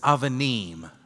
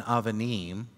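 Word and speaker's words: אבנים: When it's not the first letter in the word, it makes a v sound, but it's the same letter.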